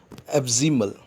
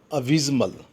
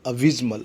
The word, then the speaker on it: abysmal: एब्जिमल, एब्जिमल, sorry the pronunciation, abysmal. What we say, abysmal.